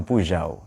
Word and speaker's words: Peugeot: Kalau di Prancis yang gambar singa, Peugeot itu cara bacanya Peugeot.